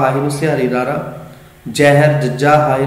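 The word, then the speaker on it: ਜਹਿਰ: जिवें ज हाए नूं सिहारी र जहर, लेकिन असीं की उच्चारण किया जहर।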